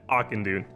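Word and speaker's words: Auchindoun: forest with the quest the spirit of akin dune and i know that's how you say it because i pulled my youtube and this is how they said you say it akandoon similar to the hellfire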